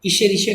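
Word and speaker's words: Escherichia: Example is E coli, example is E coli, ईशेरिशिया coli, pronunciation है ईशेरिशिया coli, short में E coli लिखते हैं।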